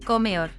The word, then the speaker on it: comedor: pronounced Islas Canarias, and the D after the accent is weakened. So, for example, comedor, a canteen is pronounced comeor.